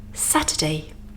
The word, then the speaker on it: Saturday: Saturday. Here in Saturday we have the UR spelling again, but this time it's weak, not strong. So we use a schwa sound.